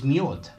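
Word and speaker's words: мёд: And in Russian language, honey is myod. Myod, which is med, M-E-D. It's spelled the same way in Russian, M-E-D. You just pronunciate the E more like an O.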